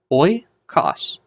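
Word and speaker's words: οἶκος: So instead of hoi, it's pronounced oi.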